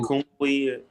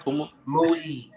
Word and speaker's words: Kamui: So that Ninja So Kumui, how the I'm saying it right? Kamui.